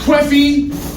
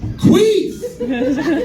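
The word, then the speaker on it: Quefe: Not Queffy, not Queffé, Queef. I don't know how else to pronounce it.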